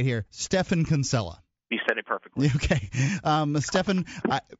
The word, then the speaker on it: Stephan: here stephan kinsella okay Stefan pretty much every time we say your name on the show we say Stephen that's okay I come